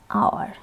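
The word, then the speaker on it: hour: Exceptional rule: generally some words begin with a vowel sound as the initial consonant is not pronounced.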